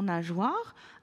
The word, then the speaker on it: nageoire: Mais également, il faut qu'on se dise que dans nageoire, après le son J, je vais avoir la lettre O puisque j'entends le son WA. Donc, du coup, pour écrire nageoire, il va être nécessaire d'écrire le G, le E pour faire J et écrire après war. Nageoire.